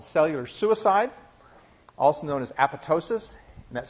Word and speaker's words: apoptosis: When that happens, P53 initiates a process called cellular suicide, also known as apoptosis, and that's spelled A-P-O-P-T-O-S-I-S, the most mispronounced name in molecular biology. The second P is silent.